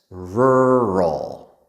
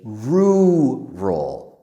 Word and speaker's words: rural: So there are two parts R. That's a hard sound to make. R. And then after that R L roll. Rural. Rural. The other way it's a little bit easier is to say rroll. Rural. Both ways end with the R L sound.